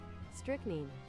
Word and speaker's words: strychnine: Okay, how do you pronounce that? It's bothering me. Strychnine.